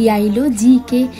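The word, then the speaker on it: Geilo: গাইলো না, এটা এখানে অ্যাকচুয়ালি বলে ইয়াইলো, ইয়া উচ্চারণ করে।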